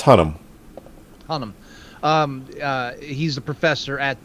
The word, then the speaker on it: Hunnam: I forget how they pronounce it. It's Hunnam.